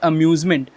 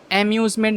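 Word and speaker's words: amusement: सीखना है वो है अम्यूज़मेंट। अम्यूज़मेंट का इसका प्रोनाउंसिएशन होगा अम्यूज़मेंट, एम्यूज़मेंट नहीं, आम्यूज़मेंट नहीं, अम्यूज़मेंट। अ का जो प्रोनाउंसिएशन होगा बहुत ही सटल होगा, अम्यूज़मेंट, अम्यूज़मेंट।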